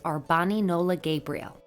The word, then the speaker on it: R'Bonney Nola Gabirel: The correct pronunciation of the name is Arbani Nola Gabirel.